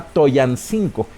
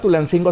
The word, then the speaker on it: Tulancingo: Ojo, no se llama Toyancingo. Se escribe Toyancingo, pero el náhuatl es como el inglés, no se pronuncia como se escribe.